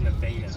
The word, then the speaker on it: Nevada: And then the one that looks like Nevada is pronounced Nevada.